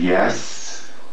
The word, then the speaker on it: Yess: you right now foreign yes my last name is spelled y e s s the second s is silent whenever I tell people